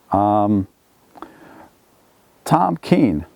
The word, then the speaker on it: Kean: Tom Kean. Well, that's Governor Tom Kean or Tom Kean. Some people pronounce it 'keen", some people pronounce it "cane". I believe "cane" is the correct pronunciation.